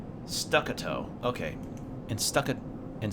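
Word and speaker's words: staccato: of the darkness in statico rhythm with stacito statito what is that word hold on how do you pronounce that stuck a toe okay and stuck it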